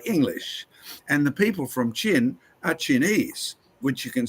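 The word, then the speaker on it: Qin: an Antiquated way of spelling it is actually pronounced c h n in modern day English and the people from chin are Chinese which you can see where we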